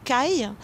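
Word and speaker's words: 貝: Moi, ce que je verrais, c'est que le mot coquillage au Japon s'écrit avec un idéogramme qui ressemble énormément au mot voir. Coquillage se dit kai et ça désigne le sexe de la femme.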